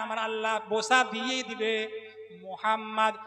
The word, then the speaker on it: মোহাম্মদ: মোহাম্মদ নিচের ঠোট উপরের ঠোট নিচের ঠোট উপরের ঠোট। যতক্ষণ না লা লাগাবেন মিম উচ্চারণ হবে না।